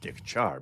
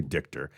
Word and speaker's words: Dychtiar: it's a Ukrainian name. And if you're from the Ukraine, it'd be Dychtiar, but we say Dychtiar, so everybody else can say it. Yeah, just Dychtiar.